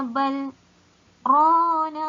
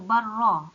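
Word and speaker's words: بَلْ رَانَ: Tak boleh baca barra. Tak boleh. Kerana apa? Adanya hukum saktah di sini, kena berhenti seketika tanpa mengambil nafas yang baru.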